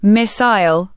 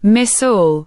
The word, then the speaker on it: missile: British English says missile, like smile. American English says missile.